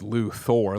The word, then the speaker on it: Luthor: I thought it was Luther. Well I mean there's an O in it right? technically is Lou Thor. Like Thor, that's how it's spelled.